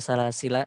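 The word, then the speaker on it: سلاسلا: Tadi ada yang bertanya untuk wakaf pada salasila. Ya. Wajhul muqaddam atau cara baca yang paling dipilih adalah dengan isbatul alif. Salasila, seperti itu. Karena mengikuti rosomnya.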